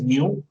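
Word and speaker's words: μ: So this mu is, this pronunciation is mu, is the constant which is called the viscosity.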